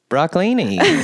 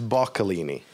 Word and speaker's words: Boccalini: Broccalini. No. What's your Italian last name? I don't know how to say it. It's Boccalini. Boccalini. I was super close. That was close. And you just added an R, which is much nicer and an actual thing.